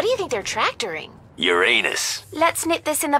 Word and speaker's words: Uranus: Besides, the proper pronunciation is Uranus. It's a dactyl.